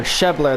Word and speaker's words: Schebler: schebler up to bat or Shepler that's how the the announcers pronouncing his last name's schebler I'll try to remember